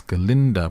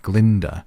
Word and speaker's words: Galinda: but this talking goat can't pronounce galinda properly and keep saying Glinda we find out from